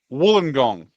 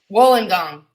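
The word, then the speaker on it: Wollongong: gong what is it how do you say it Woolen gong Woolen gong yes wolon gong wolong gong but they were like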